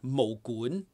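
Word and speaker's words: 武館: Because it's mo gun. Mo is martial art, all right? Gun is like a place. Because most people spell like kwan or kun, but it's not. It's gun, like G-O-O-N, gun, right?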